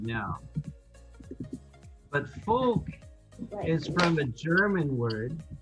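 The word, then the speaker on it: Volk: way right now but folk is from a german word comes from a german word germans capitalized their nouns the german word is folk but the germans pronounce the v like an f do you know what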